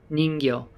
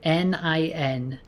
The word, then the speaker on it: Ningyo: Ningyo. So Ningyo. That's Nin, Nin-gyo, Gyo.